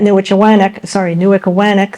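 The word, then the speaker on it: Newichawannock: Another 15 to 25 Scottish prisoners worked at the Great Works sawmill at Newickawanack, they pronounce it, South Berwick, Maine, which was a 20-saw operation.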